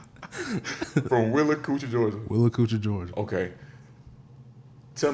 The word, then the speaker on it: Willacoochee: Willacoochee, Georgia.